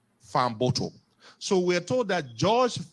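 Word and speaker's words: Fahnboto: famoto is f-a-h-n-b-o-t-o sorry yesterday I pronounced it as vambuto but I am told the correct spelling of his name is f a fan f-a-h-n-b-o-t-o Farm bottle so we're told that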